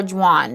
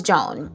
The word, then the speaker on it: Jaune: Am I saying it right? Because Joan, right? Yes, Joan or Juan. No, it's Joan.